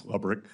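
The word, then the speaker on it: Lebryk: And I believe you were approached by the highest ranking career official at Treasury, David Lebrick. Am I pronouncing his name correctly? I believe it's Lebrick.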